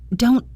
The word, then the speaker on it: don't: The first thing to notice is the word don't. In fast American English, we often don't pronounce the final T sound with a puff of air. It's called a stopped T.